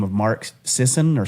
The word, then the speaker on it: Sisson: But also you could to decide there's a guy by the name of Mark Sison or Sisson is how you say it.